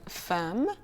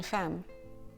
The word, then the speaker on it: femme: And the same pronunciation can be found in the word femme, the French word for woman or wife, une femme.